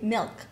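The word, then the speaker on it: MILCK: Milk. I thought you said something. You know what I thought she said? M-I-L-C-K. That's what I thought too. She's good with the That's what I thought. pronunciation. Milk. M-I-L-C-K.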